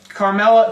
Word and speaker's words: Carmella: not going to give her anything yeah um carmella carmella that's how you say it I said